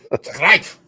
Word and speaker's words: Greif: Greif, something. It's Rommel's rig. You're supposed to say it like you're mad. That's what they said earlier. Greif.